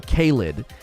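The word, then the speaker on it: Caelid: the lakes and today we're going to explore caled which i believe that's how you pronounce it caleb is the area to the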